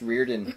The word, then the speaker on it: Riordan: it's really funny yeah I've heard it pronounced Reardon in other cases in the audiobooks I think they say Riordan it's probably briordan anyway so our daughter says